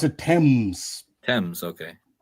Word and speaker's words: Thames: Oh, they pronounce it Thames.